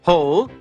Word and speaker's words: whole: will and whistle but in a few words the W is silent and only the sound of the H is heard like in the words whole and whose these are exceptions to